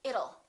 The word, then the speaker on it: it'll: fast D and say it'll it'll rain it'll be hot it'll be nice it'll rhymes with the word little we don't say little